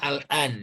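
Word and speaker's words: الآن: Ini dibacanya al-an ya.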